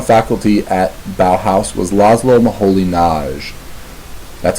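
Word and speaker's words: László Moholy-Nagy: world also on faculty at Bow house was LOM M Holly NJ that's how you pronounce his name llo maholi na um this is a work that's referred to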